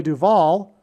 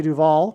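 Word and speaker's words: Duvall: But Simon famously broke up with Shelley Duval, which also rhymes with Hall, at the airport before she got onto a plane to the UK to film the movie The Shining.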